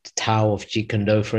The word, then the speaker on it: Tao: first book was called Tao of Jeet Kune Do, for instance. So that would be like the Western pronunciation. But actually, it's a more of a D in pronunciation than it is a T.